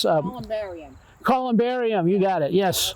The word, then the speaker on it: columbarium: Columbine. No, Columbine's a place in Colorado. So. No, I think that's how you Say it again. Columbine. Okay. It's where it's Columbarium.